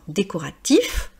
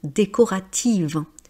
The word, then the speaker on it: décoratif: Alors, décoratif, quand vous avez if, des adjectifs avec if, on prononce par exemple nocif, exhaustif, voilà, vous allez prononcer mais c'est au masculin. Au féminin, quand c'est if, ça devient iv. par exemple des peintures décoratives, des livres décoratifs, lesz arts décoratifs mais des peintures décoratives. J'ai remarqué quelque chose, c'est